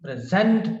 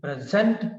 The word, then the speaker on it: present: present is adjective for instance what is the present position what is the present position so here space is on the first syllable when we pronounce the word present and